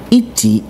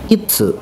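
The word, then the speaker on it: 一: Nah, sedangkan untuk onyominya dibaca ichi atau itsu.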